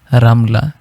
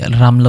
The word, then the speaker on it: রামলা: হাসনা সরাইয়া হামিদা দারদা রামলা রামলা এটা আগে বাংলায় রামলা উচ্চারণ হবে যদি আমরা আরবিতে উচ্চারণ করি তাহলে রমলা হবে মাশকরা আছে আফরা এ